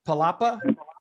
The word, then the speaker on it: Palapa: little bit about uh did i say the name right palapa yes you said it right so we're here in